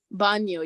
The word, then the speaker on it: baño: Baño, yeah. Baño, good. The N has an accent mark, so it's like baño, yeah.